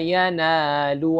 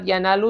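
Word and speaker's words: يَنَالُ: Dan kalimat yanalu setelahnya ini ada mat tabi'i juga. Qala la yanalu. Ada 2 harakat.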